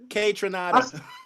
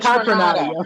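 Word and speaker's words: Kaytranada: K Tronada. Yeah, K-Tronada. I said Contranata, yo.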